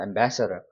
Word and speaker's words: ambassador: 자 그래서 여기가 강세가 있기 때문에더라고 있는 겁니다 Ambassador 넘어가겠습니다 자 마지막 페이지입니다 우리 실전 연습을 한번